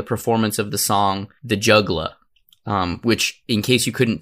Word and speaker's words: juggla: of the song The Juggla. Which, in case you couldn't tell by the way I pronounced the juggla, it's not the juggler, it's J-U-G-G-L-A, it's juggla, it's the juggla.